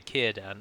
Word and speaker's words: Círdan: Let's just call it Círdan. If you're wondering why I say Círdan and not either Círdan or Círdan, is because a C is always pronounced as a hard K in Sindarin, and the accent over